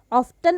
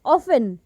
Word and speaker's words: often: ऑफ्टन अक्सर हम इसको बोलते हैं, लेकिन हाउ टू करेक्टली से इज, and that is ऑफन। टी जो है यहाँ पर वो साइलेंट हो जाता है, ऑफन, ऑफ्टन नहीं होता है ये। तो correct pronunciation of this word is often, not often.